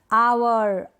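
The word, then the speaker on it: hour: आवर, honest, ऑनर, एयर, ये जो spellings है ना यहाँ पर शुरू में है H और वो क्या है, साइलेंट है, नहीं पढ़ा जा रहा, नहीं बोला जा रहा, इसको हम प्रोनाउंस नहीं कर रहे।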